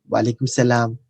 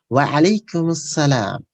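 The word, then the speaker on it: وعليكم السلام: Now, in general, the non-Arab people, they say wa alaikum salam, I'm salam. So that's the incorrect way, improper way to say. The correct way is wa alaikum salam.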